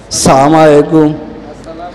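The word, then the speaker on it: السلام عليكم: দেই সালামের মত ভুল কি কন আসসালামু আলাইকুম আসসালামু আলাইকুম সালামটাও শিখলেন না সবাই বলেন হামজার উচ্চারণটা ক্লিয়ার আসসালামু আলাইকুম আসসালাম আসসালামু আলাইকুম এই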